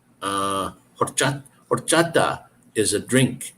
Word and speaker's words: horchata: but it's not the the H is silent so it's horchata um so there's a